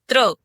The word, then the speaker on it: त्र: जब आप त बोलने के लिए तैयार हो और र बोल दें तो कौन सा वर्ण बनेगा? त्र।